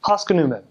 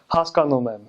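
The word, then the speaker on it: հասկանում եմ: So like a bad accent would be like if you're saying I understand, you'd say haskanumem, haskanumem. So you kind of like bounce over the second syllable. But a good accent would be like haskanumem, where you have the on that second syllable.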